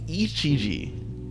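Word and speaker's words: Ijichi: But nonetheless, right, we get to see Ichiji.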